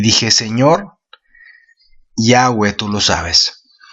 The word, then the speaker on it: Yahweh: Dice así: la mano de Jehová, yo lo voy a decir Yahweh porque es un nombre, pues, la pronunciación que yo creo es más correcta al original.